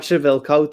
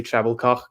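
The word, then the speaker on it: Trebilcock: Mike Trebilco, the BBC had to call him. They weren't allowed to say Treblecock.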